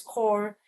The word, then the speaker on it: corps: Corps, like I think like what? Peace Corps, right? So you don't pronounce the P.